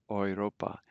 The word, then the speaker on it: Europa: Notice the UR is pronounced like as if it were OY, like boy, Europa.